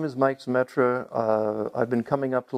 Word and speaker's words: Zemetra: I'm a resident here in Lake Wildwood, have been for 2.5 years, and I'll be interviewing Mike Zemetra. Did I pronounce that right? Zemetra, yes, thank you.